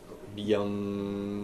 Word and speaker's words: Bhyam: Lakshmi Narayana Byam Nama.